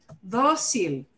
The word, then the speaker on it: dócil: La otra palabra del video, dócil, dócil, dócil lleva acento. Dócil termina en L, it ends in L. Normally, you would expect that the punch, the harder stress would be on the final syllable, okay?